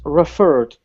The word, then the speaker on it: referred: um next is okay the word referred instead of referred okay the stress is on the end of the word referred referred referred okay very good